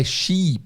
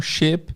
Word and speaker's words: sheep: Presta atenção na pronúncia, é sheep, não ship. Não pode ter um i curto, porque ship é navio. Tem que alongar um pouco essa vogal aí que tem aí, que é i, sheep.